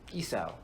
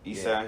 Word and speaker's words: Esau: Esau. Esau.